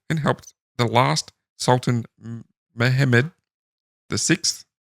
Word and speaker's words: Mehmed: He was first stationed in Constantinople and helped the last Sultan Mehmed VI. Not with an A, it's an Mehmed. Mehmed.